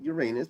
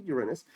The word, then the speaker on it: Uranus: planet Uranus I know most people pronounce it Uranus but it's actually Uranus and I look at